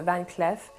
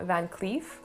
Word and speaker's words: Van Cleef: in french van cleef most of the employees speaking about the brand were pronounced in van clef so i guess it's safe to say it's a van clef and not van cleef but the arpels we